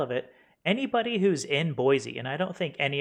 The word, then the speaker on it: Boise: Boise, the Z.